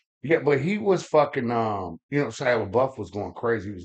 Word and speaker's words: Shia LaBeouf: ones with Sheila LaBeouf and Shia LaBeouf. Charlotte. Is that how you say it? Yeah, Shia LaBeouf.